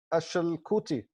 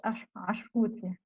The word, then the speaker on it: Ashkuti: Yeah, it's Ashkuti. Ashkuti, Ashkuti.